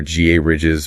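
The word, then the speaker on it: garages: We have our GA ridges rhyming with carriage.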